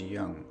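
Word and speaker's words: 阳: This wordplay arises because the character yang in the I Ching shares the same pronunciation as the character for goat, both pronounced as yang.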